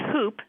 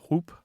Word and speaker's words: whoop: Yeah, they're related for sure, because some people do pronounce the H and whoop, like whooping cough, and some people don't, and so they're actually the same. They're the same expression.